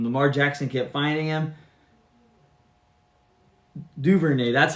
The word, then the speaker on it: Duvernay: Duvernay, that's how you pronounce it.